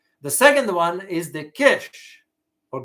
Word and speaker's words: Kish: second one is the kish or geish as they pronounce it in farsi guys is located in